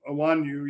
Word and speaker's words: Onwenu: tackle DJ Reader, Patriots offensive tackle Michael Onwenu, Onwenu, yeah, that's how you say it.